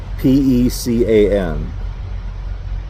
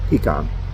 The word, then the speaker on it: pecan: P-E-C-A-N. I think I say pecan. Yeah, pecan. Pecan pie. Some people say pecan or pecan. No, pecan, pecan, pecan. Both.